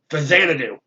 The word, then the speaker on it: Xanadu: I didn't know how to pronounce it at first, but I found out I was pronouncing it wrong. But I have done it on my channel. It's Xanadu.